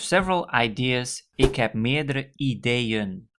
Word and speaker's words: ideeën: Ik heb meerdere ideeën. So again, there's a double E at the end, and the emphasis is on that part of the word.